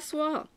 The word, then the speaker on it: soie: So yeah, Au revoir à soie is, and it's spelt S-O-I-E.